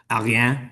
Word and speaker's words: Ariane: I found out online this is a European rocket launch, so it's actually pronounced like Ariane, but I'm not going to say that.